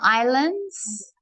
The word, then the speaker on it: island: So the S is silent. Island. So we stretch out that I, island.